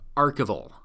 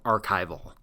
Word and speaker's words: archival: And yes, that is how you pronounce it: archivist and archival, not archivist or archival.